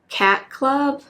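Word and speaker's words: Chat Club: this one, which is called Cat Club. It's spelled C-H-A-T Club, but I'm pretty sure it's after the cat store in Stars Hollow. I'm pretty sure it was called the Cat Club, but it was spelled like chat.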